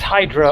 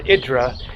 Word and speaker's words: Hydra: this is Hydra or idra but I'm just going to go with the English pronunciation for the sake of consistency and just clarifying that that is the way that it is pronounced in English and it is just